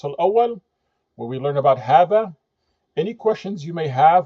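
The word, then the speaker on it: هذا: Just as we learned in lesson one for hadha, hadha, the alif is omitted, and it's written hadha.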